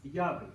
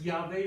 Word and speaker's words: Yahweh: the original pronunciation, but it may give an indication that Yahweh was a possible pronunciation, because Ehyeh is like Yahweh.